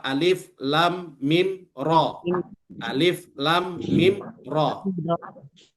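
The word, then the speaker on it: الم: Maka cara yang benar membacanya alif lam mim.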